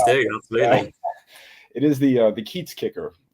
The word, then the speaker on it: Kiez: Whenever you have the IE or the EI combination, pronounce the second vowel. So that's how you do it. And yes, the Kiez kicker just means the neighborhood kicker.